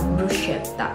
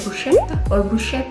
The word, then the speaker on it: bruschetta: Oh my god, bruschetta. I always, before I lived here, I always say like bruschetta or bruschetta. Non lo so. Bruschetta. Bruschetta. Now I know.